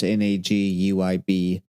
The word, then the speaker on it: Naguib: It's Naguib.